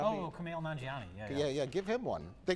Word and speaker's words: Kumail Nanjiani: Kamal Numjabi. Oh, Kumail Nanjiani.